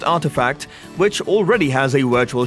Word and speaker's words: RTFKT: Nike has announced the acquisition of digital footwear company RTFKT, pronounced Artifact, which already has a virtual shop on the Roblox platform.